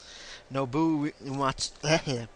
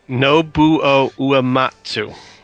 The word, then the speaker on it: Nobuo Uematsu: Nobuo Uematsu. It's that OU combination that trips me up. Always. I see that and I just kind of slur my way through it.